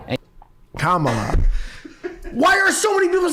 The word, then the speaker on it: Kamala: Just combine comma shut up. with la. And Kamala.